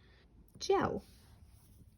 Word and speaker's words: gel: G usually says J before an E, I, or Y, just like our soft C. Okay, so let's take a look at some of these. Gel, like hair gel, or